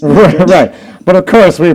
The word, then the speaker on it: New Madrid: which by the way is spelled Madrid but pronounced M right but of course we pronounce it Madrid yeah New Madrid Missouri infuriating um tell that to the folks in